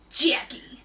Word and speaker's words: Jackie: it's a dream yeah two syllables hard K Jackie Jackie will take your